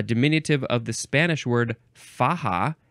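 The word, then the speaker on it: faja: American Spanish uh dominative of the Spanish word faha f Aja a which means sash or belt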